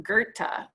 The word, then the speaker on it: Goethe: It's John Wolfgang von Goethe is how you say that.